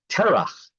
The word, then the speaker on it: Terach: We have Tarach, even though we generally call him Terach.